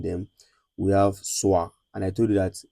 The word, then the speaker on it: soir: We have soir, and I told you that whenever you see o i in French, it is pronounced as wa. Wa. So, we have soir, which means evening, and